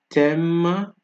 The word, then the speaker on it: thème: H is also silent in words with TH. Thus, TH is pronounced like T. Examples of this are mathématique, mathématique, thème, T.